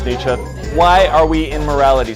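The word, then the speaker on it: Nietzsche: What would Nii think if you ever pronounce it nichi in front of me?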